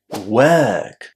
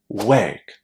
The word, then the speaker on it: work: We say that letter O as a long e work. And as we said, of course, you can pronounce the letter R and say work.